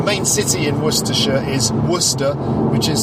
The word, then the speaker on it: Worcester: the capital the main city in Worcestershire is Worcester which is spelt wor c est ER but it's pronounced